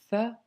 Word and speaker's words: ث: Par contre, le tha, c'est pas le cas, car ta langue doit légèrement sortir. Le bout de ta langue doit sortir et tes dents du haut, quand tu prononces le tha, vont toucher légèrement ta langue.